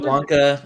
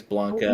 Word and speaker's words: Blanca: I said Blanca as a kid, but I think it's Blanca. You did? I think. Yeah, I know it's Blanca. Sorry. I did say Blanca cuz look how it's spelled. Blank.